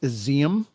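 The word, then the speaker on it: Izium: Graves at a mass burial site in it's pronounced Aseem which is an eastern city reportedly recaptured from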